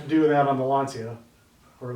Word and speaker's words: Lancia: So I'm sure I'm going to have to do that on the Lancia, or Lancia, as it's pronounced properly.